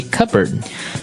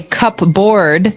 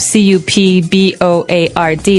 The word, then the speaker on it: cupboard: All the silverware, we usually keep them in a cupboard. Okay. So, you might want to say cupboard because it's cup c u p b o a r d.